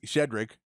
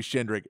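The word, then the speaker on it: Shedrick: shinri this is his shedric I when you say Kaden he wouldn't say shendrik it's shedric I keep saying it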